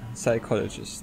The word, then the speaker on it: psychologist: Yeah, psychologist. There is a P in the beginning of the word psychologist, but no one pronounced this.